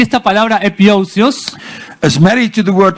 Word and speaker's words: epiousios: epiousios. Spell it.